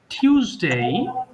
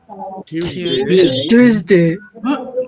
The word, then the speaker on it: Tuesday: Saturday, আচ্ছা, Saturday, সানডে, Sunday, Monday, Monday, Monday, টিউসডে, Tuesday, টুইজ হবে না, টিউসডে, Tuesday, Tuesday, ওয়েডনেসডে, Wednesday, থার্সডে, Thursday, Thursday, Friday.